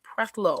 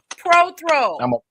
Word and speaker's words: Prothro: Prelo. I like the way you say my la. Prothrow. PROTHRO. IS IT ALWAYS SAID YOUR LAST NAME WRONG? IS IT Prelo or Prothrow? Prothrow.